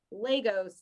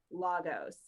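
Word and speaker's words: Lagos: Wish the MCU would get the pronunciation right. Legos, not Logos.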